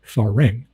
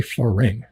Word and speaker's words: farang: time it's if a r a n g farang um now the ties have a problem with